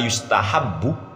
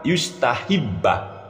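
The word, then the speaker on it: يُسْتَحَبُّ: S di pondok saya masa kalimat WA innama yustahabbu malah dibaca WA innama yustahibba hancur-hancur ini bacanya yustahabbu kok malah yustahibbah baca kitab aja enggak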